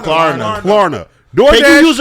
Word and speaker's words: Klarna: How do you pronounce Klarna? Klarna.